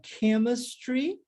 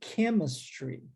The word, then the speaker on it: chemistry: Mas, quando nós vamos para a palavra chemistry, olha que diferente. A palavra química, sabe? A matéria química que você estuda na escola, nós pronunciamos chemistry, não chemistry.